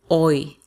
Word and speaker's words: hoy: Hoy. That means today. Remember, we don't pronounce the H.